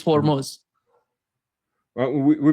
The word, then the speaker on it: Hormuz: But for whatever reason that yeah, they don't for Armuz not Hormuz. Yeah. Yeah. It's Hormuz. In the Persian pronunciation is Hormuz.